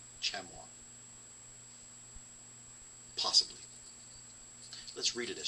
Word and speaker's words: chamois: it on the table i believe my wife would kill me for pronouncing that chamoys because i do believe that's chamois chamois possibly let's read it